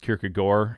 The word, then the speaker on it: Kierkegaard: think i appreciated uh kierkegaard um and studying him or apparently it's pronounced kirk agor in his native language like i mean this